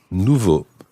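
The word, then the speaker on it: nouveaux: there we have Nouveau with an X in the end which is silent and of course levra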